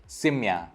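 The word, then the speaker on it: семья: पर्यादक, सिम्या, यहाँ पे भी ये ई जैसा प्रोनाउंस हुआ, सिम्या।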